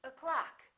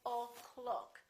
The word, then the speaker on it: o'clock: at the first word this syllable is reduced in now in this case the first syllable is reduced the second syllable is stressed so this one disappears and becomes this uh sound so we say o'clock we don't say o